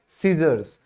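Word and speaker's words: scissors: अब कैंची जो हमने किया था बिल्कुल शुरू में, यहां भी सी साइलेंट क्यों है, क्योंकि एस के बाद सी आया है, तो एस के बाद सी आएगा तो हमेशा साइलेंट ही होगा, सीजर्स।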